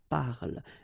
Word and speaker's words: parle: Okay, so elle parle, parle. And then the last thing here that you will hear is the l, l, l.